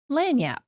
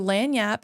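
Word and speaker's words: lagniappe: pronouncing that wrong okay and my word is lanap oh so lanap is spelled l a g n i a p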